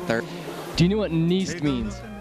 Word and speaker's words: Niest: Do you know what Niest means? Rhymes with yeast.